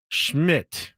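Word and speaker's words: Szmyt: It's Andrew Schmidt, but it's spelled Szmmy T. No vowels. Missed an extra point and Sysmid missed an extra point and a field goal.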